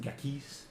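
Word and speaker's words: Ghakis: Darian's probably out, like, got the map unfolded, and he's like, "Oh, that's Mount Gakis over there." It is pronounced Gakis, actually.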